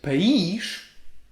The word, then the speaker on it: país: always say another one paich is parents but paige it's country so the country of my parents